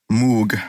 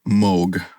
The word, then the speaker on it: Moog: this movie it's it's a brand called Moog or Moog is probably how you pronounce it mo oh gee it was a Moog